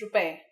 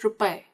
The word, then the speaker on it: रुपए: First we say the number followed by rupai. There's only one simple catch. For all the numbers except 1, you use the plural form which is rupai.